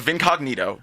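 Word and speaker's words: Vincognito: not you're it's a it's called Vin Cognito but Neato is spelled like Neo like neat it's not Incognito with a v in front of it that that's why it's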